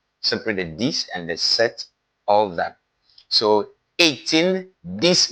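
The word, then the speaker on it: sept: In the word set, even though there is P between the E and the T, it is silent. It's pronounced set, set, set.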